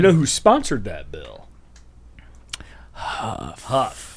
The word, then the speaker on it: Huff: Huff. Not tough. Not tough. It rhymes with tough.